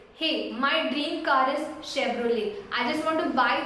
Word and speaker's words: Chevrolet: the actual way is Chevrolet, Chevrolet. Here the T is silent, so you can just call it as Chevrolet. Hey, my dream car is Chevrolet.